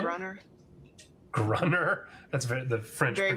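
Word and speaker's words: Gruner: Is that his job to hunt down This is our main man right here, Olivier Grunier? Grunner. Grunner? That's the French Very French.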